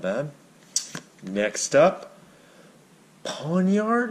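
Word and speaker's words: Pawniard: not bad next up pawn yard is how you say it I got him in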